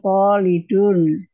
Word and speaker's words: Khalid: kalau kalau orang yang asli Arab bacanya kolidun. Kalau Indonesia Ya, kolid iya.